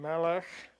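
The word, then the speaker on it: מֶלֶךְ: So the words Bait and Melech and Na'ar are all accented on the first syllable.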